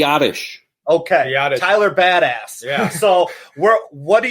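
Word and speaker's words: Biadasz: then and check out Tyler how do you pronounce his last name B Aatish ok yada Tyler badass yeah so well what do you think about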